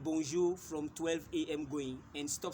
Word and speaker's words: bonjour: we have only two ways of greeting okay bonjour that is it I have not created any